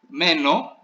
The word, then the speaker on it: μένω: Μένω, you see the stress is on the stem, right?